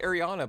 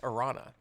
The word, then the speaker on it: Arana: It's funny, you're pronouncing it Ariana, but there's no I before that second A. It's just Arana.